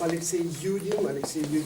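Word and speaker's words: Алексей Юдин: En russe, on prononce Alexei Yudin, qui est né en Ukraine, à Odessa.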